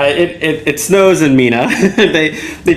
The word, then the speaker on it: Mena: So, I got to ask, you grew up in Mena, Arkansas. Pretty different place here from Central Florida, would you say? Oh, 100%. Yeah, it it it snows in Mena. They they pronounce it Mena, but um and no one would know that